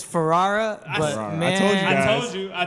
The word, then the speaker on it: Ferrara: do you pronounce your big fans how you pronounce last name it's Ferrara but I told you I told you I get Ferrera farara like naturally when you just see you want